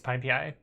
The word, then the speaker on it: PyPI: Like, anytime they say it wrong, I'll be like, it's PyPI.